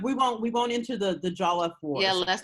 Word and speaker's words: Jollof: Okay, so Jollof, that's how you say it, Jollof. I mean, there are people who say it differently, but in my head,